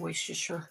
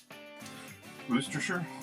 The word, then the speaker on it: Worcestershire: a tiny bit of Worcestershire. What? No, I said it wrong. How do you say it, honey? Worcestershire? That's the one.